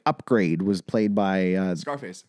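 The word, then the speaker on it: Upgrayedd: love how it's so it's upgrade but it's not it's spelled like u p g r a y e d d double d double d for a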